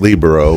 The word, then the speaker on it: libero: Well, it's actually pronounced libero. But yeah, that's the thing. So in Southern Illinois, nobody wants to say that. So yeah, that's what I've always thought. I've always kind of said libero and like Camaro.